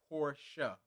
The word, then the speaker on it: Porsche: It's the pronunciation is Portia, like Portia Williams from the Housewives of Atlanta, and they're trying to figure out what's the nature of the relationship is.